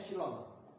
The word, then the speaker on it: epsilon: Epsilon 0, bacanya epsilon.